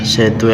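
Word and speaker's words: ث: সা হচ্ছে যে জিহ্বা, এখানে যে এই যে জিহ্বা আছে, আপনার দাঁতের আগা আর জিহ্বার আগার সঙ্গে লাগাবেন, তাহলে একটা নরম উচ্চারণ ভাব আসবে, সা সা।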